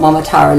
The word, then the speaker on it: Momotaro: sure we know what mamara looks like you ready to say it m m how many parts in that word four good four syllables m m and that